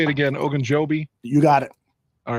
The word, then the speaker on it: Ogunjobi: Ogunjobi?